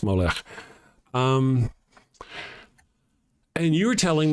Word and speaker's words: Molech: So, one time we were talking on here about Moolak and we molec probably must better pronounce Molech.